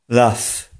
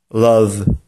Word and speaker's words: love: Nieprawidłowa wymowa tego słowa może brzmieć laugh. Laugh. Przede wszystkim drugim dźwiękiem tego słowa nie jest a, tylko o. A jeśli chodzi o ostatni dźwięk, to nie następuje zmiękczenie z w na f, tylko pozostaje w. Prawidłowa wymowa tego słowa brzmi love. Love.